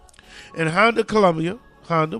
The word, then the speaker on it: Honda: In Honda, Colombia, Honda, which rhymes with Anaconda, a woman inserted a